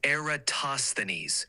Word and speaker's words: Eratosthenes: give it a go it's eroses pronounced eroses with the emphasis on the third syllable toss give it a try and I'll listen closely a boses you're close it's eratosthenes with the emphasis on